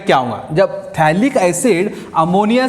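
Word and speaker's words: phthalic: ये pH silent रहता है, ये जो pH रहता है ना वो साइलेंट रहता है, तो इसको बोलते हैं थैलिक एसिड, लेकिन pH लिखने का थैलिक एसिड.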